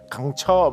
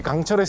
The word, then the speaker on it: 강철: 이렇게 하면 외국인들이 강철 정확하게 발음이 안 돼갖고 강처 막 이렇게 하면 강철 강처 막 이렇게 하는 그런 이야기가 묘사돼 있어가지고